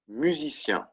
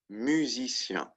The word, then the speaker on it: musicien: The French word for musician, musicien. Right? Masculine, that's how you say that. Musicien. In the plural, musicien. Right? Again, the pronunciation doesn't change.